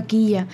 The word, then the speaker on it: Killa: después investigué Qué significa quilla y encontré todo eso y conectaba muy bien conigo o kila bueno es dequilate quechua creo que sí se pronuncia como quilla y cuando dicen Denis